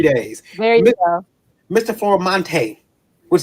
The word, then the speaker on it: Florimonte: Formante, which sounds like an actor's name, by the way. So you pronounce it right, so that's great.